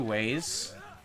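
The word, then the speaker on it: güey: It's spelled in two ways. Generally people write it using W-E-Y or W-E, but technically the right way to spell it is G-U with a diaresis, E-Y. That's generally how you would say way.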